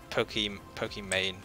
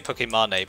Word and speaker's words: Pokimane: He was like, because he didn't know that it was Pokimane, I think is how you say it. I used to say Pokemane, but apparently that's incredibly wrong.